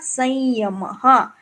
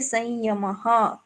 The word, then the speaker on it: संयम: अनुस्वार वैसे ही रहेगा, और उच्चारण कैसे होगा, संयम, क्योंकि आगे विसर्ग है, अ सुनाई दे रहा है, इसलिए संयम, ऐसे बोलेंगे।